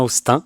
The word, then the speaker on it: Hosten: les les prononciations et je me demandais c'était aostan Austin donc tu me reprendras si je me suis encore trompé c'est bien Austin ouais c'est ça Austin c'est ça eu bonjour